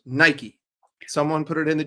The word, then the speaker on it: Nike: It's an American company. It's pronounced Nike. Someone put it in the chat. It's from Oregon. It's Nike.